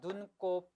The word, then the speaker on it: 눈곱: 눈곱, 자 눈과 곱이 만난 합성어고 따라서 된소리를 발음나는 사이소리 현상이니까 눈곱이 맞고 발음만 눈곱으로 하셔야 됩니다. 떡볶이죠.